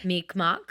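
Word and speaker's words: Mi'kmaq: represents part of I don't remember how you pronounce it. Meekmok. Meekmok.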